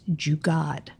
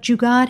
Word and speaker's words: jugaad: a word I'd never heard before, which is jugaad. I'm like, what is that? Spell that.